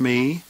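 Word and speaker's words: μέ: The singular accusative is the same word that we have in English, the word me, but we're going to pronounce it in Greek, me, me, or the longer form, eme.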